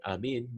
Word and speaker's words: آمين: Whoever reads the Fatiha, it is استحب يستحب is to it is recommended أن يقول بعدها آمين, to say after it آمين مثل ياسين, right?